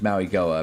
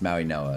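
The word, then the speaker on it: Mauigoa: Uh, apparently that's how you pronounce it. I thought it was Maui Goa. Apparently it's Maui Noah.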